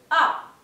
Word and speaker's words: as: Luego tenemos tu as, bien, el pronombre tu y el verbo as, pero solo se va a pronunciar la A, bien, porque la S final en francés no se lee.